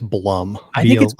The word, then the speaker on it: Blum: of all is it Bloom house or Blum House I'm pretty sure it's Blum I thought his name was Jason Bloom but is his name Jason Blum I think it's Blum yeah I mean it's spelled Blum so we're gonna go with Blum House for for if